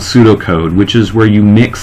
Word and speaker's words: pseudocode: okay and again that's pseudocode the P is silent okay when you're programming